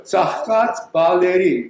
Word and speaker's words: Tsaghkadz Baleri: Second one is, I think, Tom, you should pronounce. It's hard to say. Tsaghkadz Baleri. Very good. Tsaghkadz Baleri.